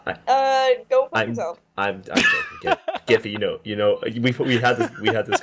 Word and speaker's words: Giffy: Well, it's also funny because your name should actually be pronounced Jiffy. Actually, my name should be pronounced. Go fuck yourself. I'm joking. Giffy, you know, we had this conversation before.